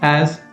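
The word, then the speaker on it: え: The next character is E, which is pronounced as A. A.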